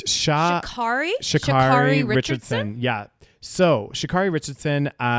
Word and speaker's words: Sha'Carri: Okay, so I'm not sure how to pronounce her name properly. Do you know? It's Sha'Carri Richardson.